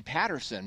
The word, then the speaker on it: Petterson: Yeah, it looks like Peterson, but they actually say Patterson because it's Petterson.